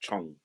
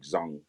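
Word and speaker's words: 忠: when you break down Zhang or sometimes it's pronounced Chung but it's like Zhang when you break down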